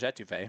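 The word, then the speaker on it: étouffée: Will pronounced it a toffee yesterday, and I almost went insane.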